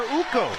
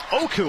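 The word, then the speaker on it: Okko: just signed his brother uko that was a a big pickup for them oku I should say pronounced his first name wrong oku feder Rico coming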